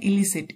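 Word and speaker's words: elicit: इसकी प्रोनाउंसिएशन है इलिसिट।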